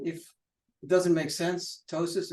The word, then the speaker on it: ptosis: it doesn't make sense tosis again silent P what the heck anyway